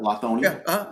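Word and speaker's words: Lithonia: Is that the way you pronounce it? Lonia. Right. Yeah. Lethonia.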